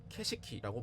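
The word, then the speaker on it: 景色: 야, 경치 좋다 할 때 경치를 뜻하는 일본어는 캐시키라고 발음합니다.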